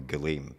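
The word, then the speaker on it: gullaime: I'll call it now, is I'm going to pronounce this wrong, the Galeem.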